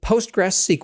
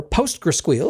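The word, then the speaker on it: PostgreSQL: death it's compatible with post grass SQL or post gral as I insist on pronouncing it so you can use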